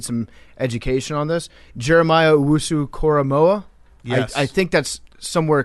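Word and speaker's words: Owusu-Koramoah: Jeremiah Wu Koramoa. I I think that's somewhere close to how you pronounce his name.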